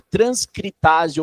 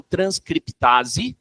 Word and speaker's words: transcriptase: Você pode pronunciar ou não esse P mudo que nós temos aqui. Eu posso chamar de transcritase ou transcriptase reversa.